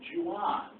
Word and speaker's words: Juan: My name's Juan.